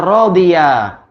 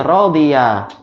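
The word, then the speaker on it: رَضِيَ: Contohnya rodiwa. Cara pengucapannya rodiya. Asalnya wawu. Buktinya apa?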